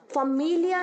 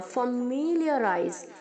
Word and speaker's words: familiarize: एल के आगे जो आई और ए है वो वाई और ई की तरह प्रोनाउंस होगा। फमीलिया नहीं बोलेंगे आप, फमीलियराइज, वाई और ई की तरह प्रोनाउंस होगा।